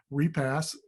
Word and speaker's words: Repass: And so we're going to tell you a couple of stories tonight from our 2 panelists, Repass. did I pronounce that right?